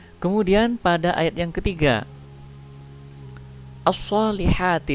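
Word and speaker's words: الصَّالِحَاتِ: Kemudian pada ayat yang ketiga, as-solihati di sini lamnya tidak dibaca.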